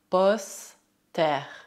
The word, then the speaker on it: poster: Por outro lado, preste atenção às palavras que também terminam em E, R, mas que devem ser pronunciadas R. R. Por exemplo, hier, hier, hiver, hiver. La mer, un poster, un poster.